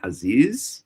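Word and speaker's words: חזיז: That's how you say it in Hebrew, haziz.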